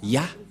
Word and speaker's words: Yah: du grand-père Moché est très claire ça se prononce ya et comment on va aussi prononcer les deux